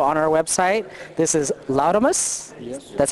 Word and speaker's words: Laudamus: This is Lamus. That's how you pronounce the name.